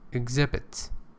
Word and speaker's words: exhibit: Exhibit. Pay attention, it is X, but it is pronounced G.